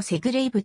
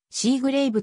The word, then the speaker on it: セグレイヴ: 製造された英語の発音を日本語にするとセグレイヴとなるが主に日本語ではシーグレイヴと表記されるレーシンぐドライバー